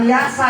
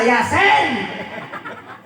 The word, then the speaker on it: Yasin: kata orang tuanya t lu salah bacanya bukan Yasa Yasin kacau urusan ajarkan kepada